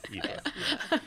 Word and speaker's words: Aoife: Well, Aoife, it's great to have you here.